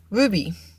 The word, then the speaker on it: RWBY: here to talk about Ruby and if you don't know it would be is it is spelled or WB y in this an American